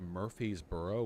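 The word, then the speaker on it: Murfreesboro: in murb congratulations everyone they all pronounce it like Murphy's burrow one word Murphy's Burrow that's insane where's the r go okay whatever city leaders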